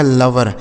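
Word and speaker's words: lover: तो एल ओ से दोस्तों हो जाता है ल और वी ई से हो जाता है व आर से र। इसे पढ़ा जाएगा लवर। एल ओ वी ई आर लवर मतलब हो जाता है प्रेमी।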